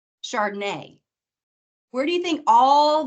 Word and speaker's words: Chardonnay: Champagne, charcuterie, Chardonnay.